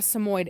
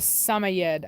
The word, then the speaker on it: Samoyed: on Samoyed I know it's not a Samoyed it's a summer yet I think it's how they say it I had a summer